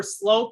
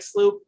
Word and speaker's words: Sloup: My Twitter handle is at Sloup, and that's SLOUP as in Paul. Looks like Sloop, pronounced Slope.